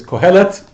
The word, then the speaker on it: Qohelet: I'm pronouncing that correctly in Hebrew it's qohelet nobody else is sure